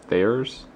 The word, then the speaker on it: Thiers: It's just made in, I think it's pronounced Thiers, France, by people that Fred knows and trusts.